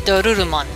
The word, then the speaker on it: Dorurumon: aren't familiar with it, doesn't have an R like we do. It has a Ru or a Lu, and it depends on what the enunciation of the name is on. So I tend to pronounce it Dorurumon.